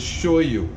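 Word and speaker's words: shoyu: a lot of this the Japanese word for soy sauce is show you sh o why you so I will often say show you just because it's a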